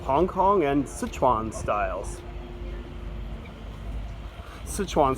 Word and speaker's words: Sichuan: Sichuan, sometimes pronounced Szechuan in English.